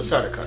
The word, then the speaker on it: Sardaukar: As he is speaking to the Sardaukar, pronounce it? The Sardaukar.